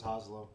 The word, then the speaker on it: Hazlo: Hazlo is spelled H-A-Z-L-O, as you can see on the bottle. I thought it was Hazlo. Yeah, that's it.